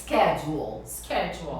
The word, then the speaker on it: schedule: Como que você já ouviu o pessoal falando? Schedule. Até que na Inglaterra, né, em algumas regiões eles falam schedule. Né? Você pode, essa pronúncia é possível. Mas no inglês americano é schedule.